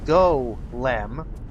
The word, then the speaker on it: Golem: confused platform controls so yeah like um a Golem which is pronounced goem like you're trying to get the front man